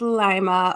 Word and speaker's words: Lima: Is it Lima? It sounds fancier that way, but it's Lima, Ohio.